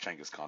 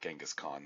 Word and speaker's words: Genghis Khan: Yeah, it's pronounced Genghis Khan, not Genghis Khan.